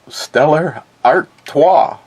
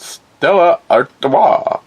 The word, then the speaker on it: Stella Artois: another one from Den Stellar Arta artat um why we're supposed to give it a French pronunciation I'm not quite sure brood in the USA at Stella Arta St Louis Missouri saw